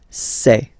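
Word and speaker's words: ces: And for the plural, c'est. Really open this c'est.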